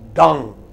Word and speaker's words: done: syllables what are those he is not dawn it is done open your mouth you know like the hood of a crocodile duck open it fully and close it quickly done okay down key okay